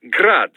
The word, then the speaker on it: Grad: the ukrainian way but most in the business pronounce it as grad russian style crazy to think i'd